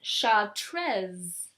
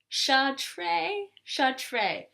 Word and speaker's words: Chartres: I'm going to pronounce it Chartres. Chartres.